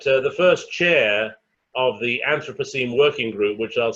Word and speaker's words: Anthropocene: So enter the Anthropocene, and some people like to pronounce this as Anthropocene, but think of it as anthropology in the pronunciation.